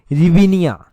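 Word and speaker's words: hryvnia: है वो है यूक्रेनी रिवनिया। रिवनिया जो है वो इसकी करेंट आती है। मैं यहां पर लिख देता हूं एच एच आर वाई वी एनआई। यहां पर एच जो है वो साइलेंट है।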